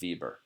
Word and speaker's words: Weber: you see the word the name Bieber or Weber but we pronounces Bieber it shouldn't be like